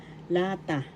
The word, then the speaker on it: lata: La example lata lata lata can in English. First syllable la second syllable ta the accent is in the first syllable lata lata can in